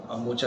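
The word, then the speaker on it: Mocha: तो साइक्लोनिक मोपा का जो मोका है मोचा है, इसके दो प्रोनाउंस है, तो इसके बारे में अभी आज वेदर डिपार्टमेंट आज हम उसके लिए ब्रीफिंग दे रहे हैं।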